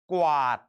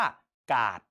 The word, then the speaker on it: กวาด: กับ ว แหวน เช่น กวาด ถ้า เรา ไม่ อ่าน ออก เสียง ควบ ว แหวน เรา จะ อ่าน คำ นี้ ว่า การ์ด ถูก ไหม ครับ เพราะ